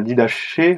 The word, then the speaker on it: Didaché: si on veut la la Didaché ou la did que c'est plutôt dididqu je P ça se prononce à la grec euh qui est une